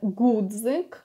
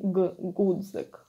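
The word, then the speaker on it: ґудзик: for Ukrainian language, and it's a very hard g sound. It's really g, g, and it's stronger than even Russian g, if you learned Russian ever.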